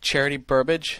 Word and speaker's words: Charity Burbage: He's scared at the sight of Charity Burbage. Is that how you pronounce the name? Yep.